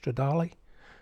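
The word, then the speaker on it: Stradale: one is racing with the Ferrari 360 challenge stradali that's how you pronounce it I'll just give you some information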